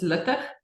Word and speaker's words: Luttig: I'll give you the Afrikaans, which most people struggle with. It's Luttig. So it's like a sound, which is very hard to say. So Luttig is fine.